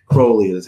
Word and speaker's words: Crowley: involved with Parsons and Crowley and Crowley I'm sorry Crowley's how you say it correctly Kohli was in England